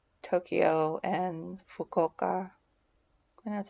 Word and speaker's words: Fukuoka: it because I only saw like Tokyo and Fukuoka, and that's how you say it.